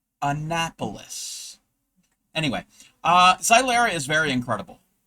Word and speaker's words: Annapolis: The state capital of my state of Maryland is pronounced Annapolis. Annapolis. Anyway, Xylera is very incredible. Yes, you are set up. Ania Police?